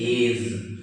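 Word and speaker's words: edge: पोरिस, last one EDZE, डी और जी साथ साथ है, फिर डी को नहीं पढ़ेंगे, दिस इज एज।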